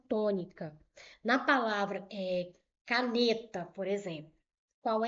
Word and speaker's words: caneta: Vou chamar o nome caneta. caneta. Tá vendo? Eu chamei mais o N. Por quê? Porque o N é a sílaba tônica dessa palavra.